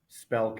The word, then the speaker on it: Spelke: They think the E is silent, um, but it's also a nickname. Spelk is what a lot of people call me. Well, 'cause you lose a consonant there.